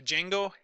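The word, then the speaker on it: Django: you're a Python programmer I believe you pronounce it - jingle has a schema migration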